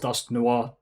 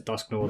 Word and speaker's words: Dusknoir: so the full disclosure I fully know it's pronounced dusk Noir because yeah French for black but because I have always pronounced the dusknore that's what I'm going